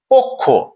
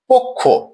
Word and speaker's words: পক্ষ: তারপর খিও আছে তাহলে প এর অকারটি ও এর মত উচ্চারণ হচ্ছে পক্ষ পক্ষ আমরা পরের উদাহরণটিতে দেখছি